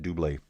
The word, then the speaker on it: Dubé: I always say double, but I think his name is pronounced Dubé.